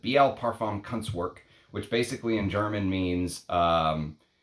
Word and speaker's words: Biehl Parfumkunstwerke: And the house is called Biehl Parfumkunstwerke, or Biehl Parfumkunstwerke, I think is how you're supposed to pronounce it. Biehl Parfumkunstwerke, which basically in German